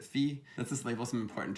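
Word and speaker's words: φ: feminine i don't know i pronounce it fee let's just label some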